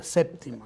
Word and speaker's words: séptima: Un problema de dicción, yo creo, porque séptima es 7. Okay. Es simplemente lo que algunos dicen, pero séptima se escribe en buen español con P, séptima.